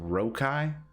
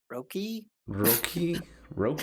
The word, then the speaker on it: Röki: Rokai? I don't know how to pronounce that because it's got the little double dots over the O. Yeah. Rokai? Röki?